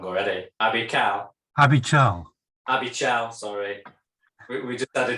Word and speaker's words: Abichal: Abichal, sorry. We just had a discussion about this, how to pronounce Abichal. Yep. Abichal.